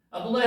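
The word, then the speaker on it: אדני: 두 번째가 달렛입니다. 또나 발음나죠. 요게 눈이죠. 니언에다가 아 발음나니까 아도나 이렇게 되죠. 요게 요드가 나오니까 아도나이 이렇게 되는 겁니다. 아도나이.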